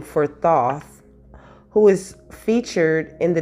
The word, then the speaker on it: Thoth: It says, Thoth, which is pronounced Thoth, okay, also known as Tehuti, is the ancient Egyptian ibis-headed god of writing, acknowledged as the sacred scribe who created writing.